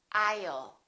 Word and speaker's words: I'll: common the word will I will sounds like I'll repeat after me aisle don't say I'll put a little up